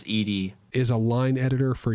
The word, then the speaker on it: ed: a gnu core util pronounced as distinct letters oh so it's not ed it's ed okay fine it's edie is a line editor